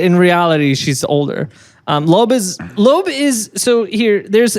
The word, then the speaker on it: Loab: okay how's it spelled l-o-ab l-o-ab yeah I've seen other people like pronounce it loab and I think that's wrong yeah that feels wrong yeah um it's Lope okay uh so Loeb